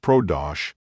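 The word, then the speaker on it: Pradosh: it matches your profession PR a o h pronounced prodos Pro stands for professional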